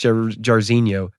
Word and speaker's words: Jairzinho: So everyone who commented, who the fuck is Jairzinho, and it's pronounced Jairzinho, you're welcome.